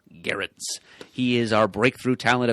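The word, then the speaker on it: Gerads: Hard G. Yes. And like Bear, I think you said. Right. Yes. I always kind of assumed it was Gerrards, like Gerald without the L, but apparently it's sort of like that, but also without the soft G. Right. So, Gerrards.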